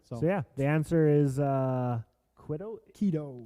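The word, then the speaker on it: Quito: okay so yeah yeah the answer is uh Kido Kido that's how you pronounce I say you as though I never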